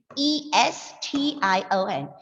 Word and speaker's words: suggestion: But as per the British native speaker, this word has got a different pronunciation. The word is pronounced as suggestion. Suggestion, yes. Because, listen, this is the phonetic symbol for cha.